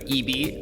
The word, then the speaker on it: ibi: When we return on Tech It Out after this short break, we're going to continue learning about Eebee. Again, it's spelled IBI.